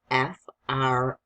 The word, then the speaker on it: from: Remember that sound is not going to be spelled with a U. How is it spelled? F-R-O-M. That's what makes it tricky. That O can make a schwa sound.